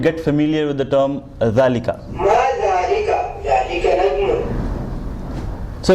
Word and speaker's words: ذلك: ذلك That's how you pronounce it. Okay. Okay. Let's just listen and get familiar with the term dhalika.